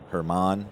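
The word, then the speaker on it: Germán: for the Rockies it's it's spelled German uh Marquez and I'm sure it's Herman perhaps we'll go with her man that sounds closer Marquez we'll see what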